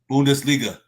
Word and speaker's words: Bundesliga: you said it correctly like Boone duh okay Bundesliga Bundesliga a Bundesliga just like in Italian